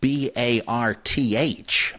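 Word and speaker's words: Barthes: whose name is spelled B-A-R-T-H, but pronounced Bart, and Roland Barth, who sometimes there's a little hint of an H at the end, but sometimes it's just pronounced Bart, but that's B-A-R-T-H-E-S.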